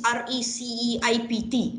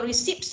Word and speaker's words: receipt: they will ask students to submit all this rec ipt huh how what are you gonna say so elvin you must tell your friends right okay everybody uh submit all your receipts uh submit all your receipts okay correct or